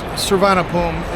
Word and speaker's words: Suvarnabhumi: It's Suvarnabhumi is the airport we're flying out of, but that's not how it's spelled.